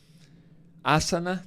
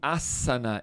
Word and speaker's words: ásana: No sânscrito, não existe o som, o S não tem som de Z. Então, mesmo que tenha só um S no termo, você vai... Opa, errei tudo. Grava, volta, edita, Ferzinha, corta. Boa, vamos lá. Asana, técnica corporal, e pronuncia-se asana e não asana.